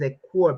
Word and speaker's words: Ekur: I believe the pronunciation is Ekur because it's Sumerian.